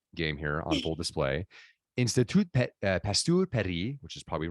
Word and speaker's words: Institut Pasteur: She serves as an advisor at the famed, now this is my French game here on full display, Institut Pasteur Paris, which is probably wrong in pronunciation.